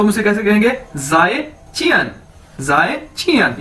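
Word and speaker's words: 再见: हम उसे कैसे कहेंगे, जाए चियन। ये देखिए मैंने इसको प्रोनाउंसिएशन इसकी बता दी है, ZAI, जाए, चियन, यानी गुड बाय।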